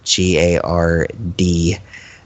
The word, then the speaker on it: Gard: I'm gonna guess it's pronounced Guard, even though it's I'm gonna assume it's Guard. Yeah. Yeah. It's not spelled like you're guarding something. It's just Gard. Like And- Bard, but with a G.